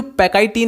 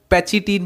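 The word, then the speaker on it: pachytene: ये जो पैकाइटीन है इसको हम पैचिटीन भी कई लोग प्रोनाउंसिएशन में बोल देते हैं, तो इसमें ज़्यादा कंफ्यूज होने की ज़रूरत नहीं है। इसको हम पैकाइटीन भी बोल सकते हैं, पैचिटीन भी, जो भी आपको सही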